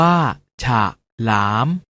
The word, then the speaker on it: ฉลาม: เสียง ว่า ถ้า ถนน ฉลาม ออก เสียง ว่า ฉาก หลาม ขนุน ออก เสียง ว่า